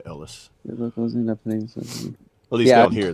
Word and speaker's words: Elias: It's spelled Elias, but it said Ellis.